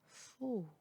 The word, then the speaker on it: faux: X à la fin du mot est toujours muet, il n'est jamais prononcé. Choix, époux, paix, faux.